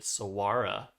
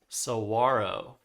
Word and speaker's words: saguaro: I don't think the h is pronounced. What's funny is I looked this up on the Merriam-Webster website and it was totally wrong. Uh they're pronouncing it saguara, but I think it is saguaro. Um we're not pronouncing the g or the h.